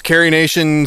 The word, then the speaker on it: Carrie Nation: so it's Carrie Nation, Carrie Nation, just the way it's spelled, and the Speakeasy, and they are this kind of they're bluegrassy but kind of punk rockish.